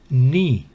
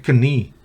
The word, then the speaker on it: knee: Por ejemplo, knee, rodilla, knack, maña, destreza de uno. Knife, cuchillo. Knight, caballero. Knowledge, conocimiento. ¿Va notando? K antes de N no se pronuncia, entonces no es knee, no es knack, knife, knife, knight, knowledge.